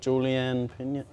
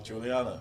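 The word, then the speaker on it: Julianna Peña: He was, he was talking with, is it Juliana Pena? Is that how you say it? Bobs? Is it Julianne Pena? Oh, Juliana.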